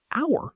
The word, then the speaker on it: hour: h o u r Hour starts with the letter h, a consonant. But how do we pronounce it? We say hour. The h is silent. So, it sounds like a vowel, and that's why we